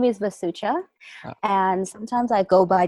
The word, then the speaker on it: Vasucha: us who are you um my name is vasucha and sometimes I Go by different names so